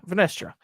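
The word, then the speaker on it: Vernestra: Yeah, Venestra.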